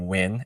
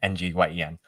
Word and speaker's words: Nguyen: Wind sounds my last name Nguyen, Nguyen.